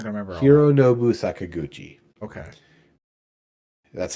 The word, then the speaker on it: Hironobu Sakaguchi: I'm not gonna remember all Hironobu Sakaguchi.